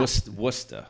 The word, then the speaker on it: Worcester: Worcester. Worcester. So Worcester, Mass, which is in central Massachusetts. It's spelled Worcester. Worcester. Pronounced Worcester, not Worcester, Yeah. not Worcester.